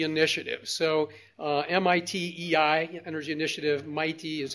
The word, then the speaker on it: MITei: So MITEI, Energy Initiative, MITEI is how we pronounce it.